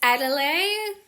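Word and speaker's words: Edalide: It's Adelaide. weird word, but it's spelled E D A L I D E.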